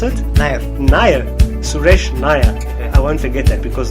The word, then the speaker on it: Nair: if his name is Suresh how do you pronounce it nyah-nyah Suresh nyah I won't forget that because the word nya